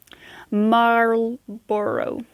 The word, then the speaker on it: Marlboro: skyflock and turn seven is masters corner previously marlboro corner it's hard to pronounce it's m a r l b o